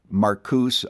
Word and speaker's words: Marcuse: Marcuse oftentimes is the way in which his name is simply pronounced.